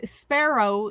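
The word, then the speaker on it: Spero: it means hope yes sparrow is how you pronounce it s-p-e-r-o and it's the um latin word for hope so hannah's has always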